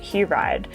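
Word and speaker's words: Hiraide: hi oh no okay according to a pronunciation website it is takashi hewride and this is a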